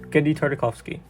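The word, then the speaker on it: Genndy Tartakovsky: a man whose name is not easy to pronounce but it is Genji tartikovsky one of the most talented directors out there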